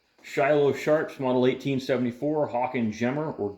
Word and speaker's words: Gemmer: Today's video we're covering this Shiloh Sharps Model 1874 Hawken Gemmer or Gemmer. I hear it pronounced both ways. I go with Gemmer.